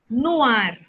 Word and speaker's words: noir: It's pronounced noir.